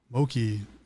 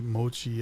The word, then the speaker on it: mochi: Moki. Not Moki, Mochi as in chi, Mochi.